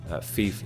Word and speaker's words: fief: browse to the thief in question and indeed thief is how it's pronounced not 5 so you find the one